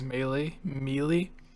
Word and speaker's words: Melee: Also, I was laughing not at the theory, but I was thinking about how Daniel called Smash Brothers Melee, and then I was thinking of like Waluigi.